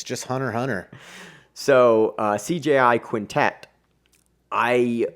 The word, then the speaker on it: Hunter x Hunter: dork you realize that that X is actually silent which I think which